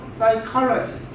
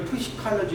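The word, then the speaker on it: psychology: 그 다음에 심리학이라는 단어 사이칼러지. 이걸 이렇게 읽어야지 푸시칼러지 이렇게 읽으면 안 되죠.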